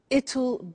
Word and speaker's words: it'll: now will is easy really it's just the pronunciation which is difficult I said tomorrow it'll be cold you notice how it will becomes ital strange pronunciation yes so tomorrow it'll be cold it'll be sunny it'll be winter